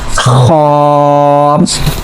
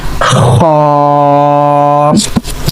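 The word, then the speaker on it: خاء: Okay, so next letter now, that is Kha. Say again Kha. Okay, so also we are checking the origin of the letters. So for pronouncing Kha we are using our upper part of throat.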